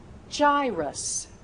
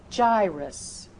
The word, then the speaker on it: gyrus: If that word begins with the letter G and is followed by the vowels E, I, or Y. E, I, Y. Use that J sound. Use that soft G sound.